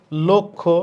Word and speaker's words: লক্ষ্য: কি লক্ষ্য ক্ষী থাকলে ল এর সাথে যে অ আছে উচ্চারণটা কিসের মত হবে ও এর মত হবে তাইলে এটা হবে লক্ষ্য এটা ভুল দেয়া আছে